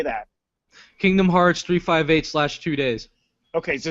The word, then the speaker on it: 358/2 Days: Kingdom Hearts 358/2 days.